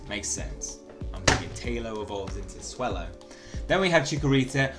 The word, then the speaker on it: Swellow: right now take a look bad habits and pronounced it wrong it is swell it makes them Taillow evolves into swellow then we have chicken reset we have fun